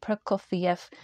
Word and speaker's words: Prokofiev: Am I pronouncing it? Prokofiev.